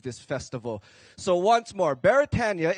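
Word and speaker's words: Beretania: So once more, Baratania is a Hawaiian word, so we properly pronounce it Baratania.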